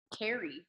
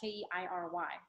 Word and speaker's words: Keiry: So I pronounced her name like Carrie for the first week of school, and then she came to me. She's like, "No, it's basically Katie, but there's an R. It's Keiry."